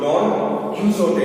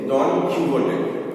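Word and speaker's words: Don Quixote: तो डॉन क्यूसोटे नहीं, डॉन क्यूहोटे.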